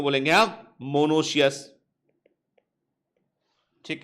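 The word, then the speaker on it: monoecious: reproduction को बोलेंगे हम मोनोश अस ठीक है मोनोश अस क्या बोलेंगे ट इसको मोनो शस ठीक है ना स्पेलिंग है एम ओ एन ओ सी आई ओ यू एस मोनो सेस बोलेंगे इसको हम ठीक है क्लियर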